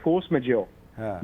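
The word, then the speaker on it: force majeure: मुझे फ्रेंच आती नहीं, इसको प्रोनाउंस कैसे करते हैं, इसको कहते हैं फोर्स मेजोर।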